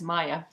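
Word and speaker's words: Maja: name, 4 letters, M-A-J-A, people pronounce it all different ways, but the name is Maya.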